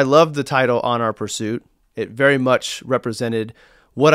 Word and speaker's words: PRST: don't even know that the letters of prst are meant to be pronounced as Pursuit so you see this